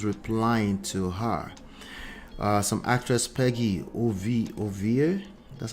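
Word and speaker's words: Peggy Ovire: Some actress Peggy Ovie, that's how you pronounce that, reacts to media personality.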